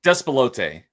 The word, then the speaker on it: Despelote: How do you pronounce that? You were telling me how to say it correctly. Despelote.